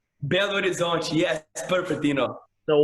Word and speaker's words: Belo Horizonte: I'm sorry if I butchered the name wrong, but Belo Horizonte. Belo Horizonte, yes, perfect, you know.